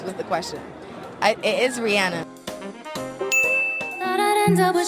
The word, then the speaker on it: Rihanna: It is Rihanna.